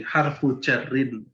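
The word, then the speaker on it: حرف جر: Kemudian berikutnya adalah huruf jar atau sering menyebutnya jar. Bacanya jari, harfu jarin. Ini al-harfu ketemu jar jadi harfu jarin.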